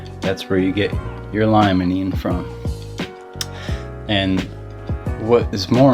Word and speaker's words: limonene: It's spelled lemonine, right? L-E-M-O-N-E-N. But it's limonene. It's not lemonine, it's limonene.